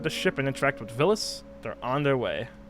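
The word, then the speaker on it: Villads: Once they board the ship and interact with Villis, they're on their way. The D is silent, by the way.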